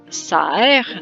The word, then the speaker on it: Serre: Technically my last name is Serre, that's how it's pronounced, which means greenhouse.